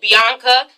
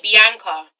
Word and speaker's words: Bianca: See, we don't, sorry, FYI guys, in England, we do not pronounce it Bianca. We say Bianca.